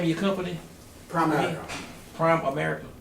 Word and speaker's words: Primerica: Primerica, Prime America. not Prime America, a lot of people pronounce it that way.